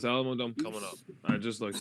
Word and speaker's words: Alamodome: And next year it's in San Antonio at the, how do you say it? A Ramadan? The Ramadan. The Alamodome? Wait, Alamodome.